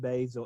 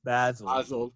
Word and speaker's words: Basil: In my mind, I want them to actually be listening to this and very snootily say every time, "It's not Basil, it's Basil."